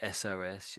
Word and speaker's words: SOS: SOS.